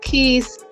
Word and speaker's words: Keese: as a youth my mother and you did pronounce it right suudi uh Keys um she was just a light she was